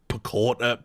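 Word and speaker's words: Paquetá: But this stuff with Paqueta or someone called him today, Paqueta, that's what I'm calling him. It rhymes with equator, that's what I was always told.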